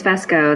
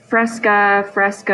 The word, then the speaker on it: Fesko: Is it Fesko? It is Fesko. That's correct. I get Fresco. I'm like, where did you get that R from?